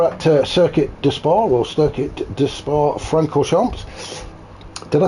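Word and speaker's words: Circuit de Spa-Francorchamps: How do you say it? Circuit de Spa Francorchamps. There you go. See, that's how you say it. That's how a professional says it.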